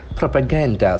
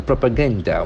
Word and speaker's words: propaganda: Whenever you have more syllables in a word, please check its accent. Propaganda. So the accent falls on the second last syllable. Propaganda.